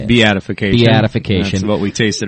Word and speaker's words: Beatification: yeast be beatification how do you say it beatification beatification that's what we tasted earlier okay a